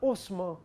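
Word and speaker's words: Haussmann: paris roubaram eugenie os mas se escreve hausmann mas se pronuncia o sumô lá o decreto da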